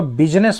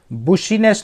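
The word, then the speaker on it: business: तो उसने दुकानदार से पूछा, हाउ इज योर बिजनेस, इसको बिजनेस पढ़ेंगे ना, बुशीनेस नहीं पढ़ेंगे, इसका उच्चारण, इसका प्रोनाउंसिएशन बिजनेस होता है, बिजनेस।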